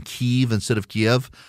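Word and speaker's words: Kyiv: out now the Russians have made it to Kev K if you're wondering why so many people started saying keev instead of Kev K iev is the Russian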